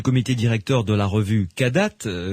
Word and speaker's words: Kadath: directeur de la revue cadate cadas ça s'écrit K a d a T H vous mettez un point